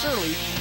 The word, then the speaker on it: Surley: Ryan Surley, and it is pronounced Surly, is the pitcher tonight.